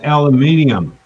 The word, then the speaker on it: aluminium: at how it's spelled we say aluminum they say aluminium then i'll oh who's